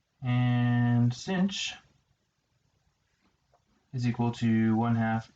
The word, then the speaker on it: sinh: It's hyperbolic cosine, hyperbolic sine, pronounced cosh and sinh.